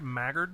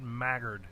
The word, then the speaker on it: Maggard: Maggard. Hey now. Yeah. Like Haggard, but Maggard.